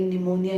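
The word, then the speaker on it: pneumonia: अब अगर ये निमोनिया की स्पेलिंग को तुम ये सोच रहे हो कि ये पी से क्यों चालू होती है, तो बेटे जान, ये अंग्रेजी है। इसमें लिखते कभी कभी कुछ और है और पढ़ते कुछ और है।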